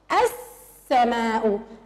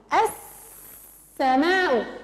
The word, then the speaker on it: السماء: السماء، السماء.